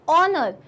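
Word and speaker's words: honour: silent letters होते हैं जैसे कि ऑनर क्या साइलेंट है इसमें एच सीन सीन इसमें क्या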